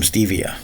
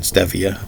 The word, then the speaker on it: stevia: unsweetened cacao and some Stevia or Stevia I've always been pronouncing it stefia but people say it's stevia so there's no sugar